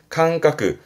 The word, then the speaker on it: 感覚: 발음은 캉까. 음으로는 캉가네요. 그죠? 캉까. 캉까.